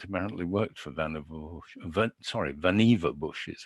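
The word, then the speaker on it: Vannevar Bush: but it was supposed to include mathematics and Van Bush uh imagined uh mimics uh in 1945 what's amusing to me is that Claude Shannon the graduate student apparently worked for Van sorry Vana bush is how you were supposed to pronounce it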